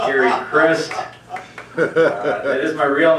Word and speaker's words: Gary Christ: He pronounced my name right. It is pronounced Gary Christ.